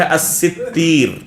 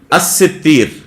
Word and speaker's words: الستیر: مشہور جو نطق ہے، علماء اس لفظ کو جو پڑھتے ہیں وہ ہے الستیر، الستیر، یہ ہے صحیح نطق۔ یا بعض علماء نے